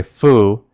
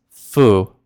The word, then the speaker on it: fu: Now, if you're the jot that n and instead wanted to say foo, then we just need a single u, f u. So, the word f u is pronounced as foo.